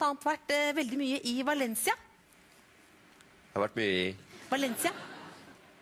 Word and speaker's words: Valencia: Du sa Ja Valencia det heter Valencia fordi V det blir B På På spansk så det uttales Valen OK bev jeg eh Men